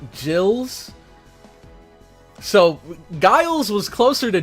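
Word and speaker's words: Gilles: I was told now I called him uh Guiles before, which Senor Lopez says it's pronounced more like Gills.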